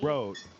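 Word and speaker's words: RØDE: I was thinking the is it pronounced Rod or Rode? RODE? Road, Rode.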